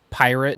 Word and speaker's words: PYRT: about right he announced a project called pyrt pronounced pirate which he insists is not a festival but